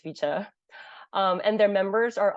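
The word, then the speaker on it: VCHA: I think it's FEA I think it's pronounced as ficha um and their members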